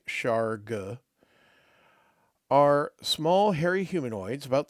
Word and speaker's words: Shargugh: Shara, pronounced, thankfully we have a pronunciation guide and I'm doing it correctly. Chara are small hairy humanoids about 3 feet tall.